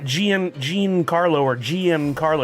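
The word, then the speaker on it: Gian Carlo Esposito: It's not Gian Jean Carlo or GM Carlo.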